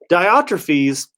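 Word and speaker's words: Diotrephes: atrophies that's what i said yeah that's right diotrophies would not recognize john's authority now that that's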